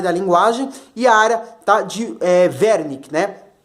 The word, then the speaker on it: Wernicke: linguagem EA área de wernicke né provavelmente alemão né o w é não geralmente possui pronunciar ver né então verme que tá